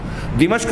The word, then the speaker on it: دمشق: میں، شام کا دارالحکومت جس کو ہمارے یہاں لوگ دمشق کہتے ہیں، صحیح تلفظ ہے دمشق میں نزول ہوگا۔ بین محروزتین، اور محروزتین دونوں